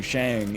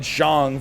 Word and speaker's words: Shang: shang chi right which i really can't stop saying shang even though i called it zhong for so long now it's like my brain is fully cemented the wrong pronunciation but i digress we